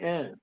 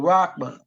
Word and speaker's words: Rahman: Rahman, they spelled it Rockman, but Rahman.